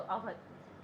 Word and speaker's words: अवध: 1856 के एक्ट के तहत औध बनता है, जिसको हम अगर बोले तो अवध। इसका जो प्रोनाउंसिएशन है वो है अवध, वैसे इसका जो स्पेलिंग है वो है औध।